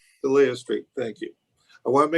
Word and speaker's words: Delia Street: Is that pronounced correctly, Will? Delia Street. Delia Street, thank you.